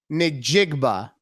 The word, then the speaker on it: Njigba: Jackson Smith Njigba.